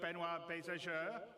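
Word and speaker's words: Benoît Beiser: waffling on I'd like to bring C's CTO benoir bezer did I say it right yeah okay good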